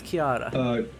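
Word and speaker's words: Ciara: Please By the watch way, they over pronounce her. her name with a hard C. Are they supposed to be doing that? So it's Kiara. Celtic languages, every C is actually secretly a K.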